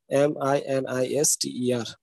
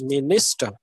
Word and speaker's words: minister: in a particular syllable there are three syllables here you have to put your stress in the second syllable that's minister okay minister so here when you